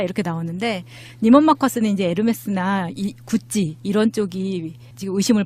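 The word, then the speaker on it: Hermès: 헤르메스가 어딨어요? 아, 예, 그러니까. 나도 처음에 이제 스펠링방 보고 헤르메스죠? 그랬더니 막 웃으면서 그렇게 하면 무식하다는 소리 듣는다고. 뭐라고 해야 되죠? 네, 에르메스.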